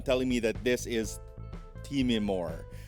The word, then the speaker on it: Timemore: who keeps on telling me that this is teeming more not time more so you know it is what it is it's spelt one way it's pronounced another let's just